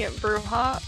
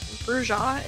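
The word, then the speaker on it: Brujah: She is the Bruha or Bruja if you prefer that pronunciation. I do not, so I will not be using it.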